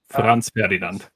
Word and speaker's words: Franz Ferdinand: Franz Ferdinand. Sure. So that's how you pronounce it.